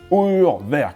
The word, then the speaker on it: Urwerk: Okay, with this one, we do hear people struggling a little bit with it, and understandably so, but let's go. Uhrwerk, but let's be flexible about it.